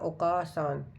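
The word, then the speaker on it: お母さん: अगर न्यूज़ भी सुनेंगे तो मदर को ऐसे ही प्रोनाउंस करते हैं। ओकासा या ओकासान।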